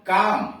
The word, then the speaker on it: calm: गाय का बच्चा, CALM काम, यल साइलेंट है, शांत, काम शांत।